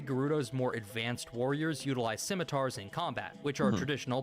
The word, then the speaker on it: scimitars: That being said, a few of the Gerudo's more advanced warriors utilize scimitars in combat, which are traditional pan-Arabic, even panislamic.